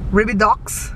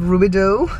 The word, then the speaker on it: Rubidoux: what's the other one Reba docks instead of rubidoux that's a city and so anyways they kind of say the way it's spelled it's okay though we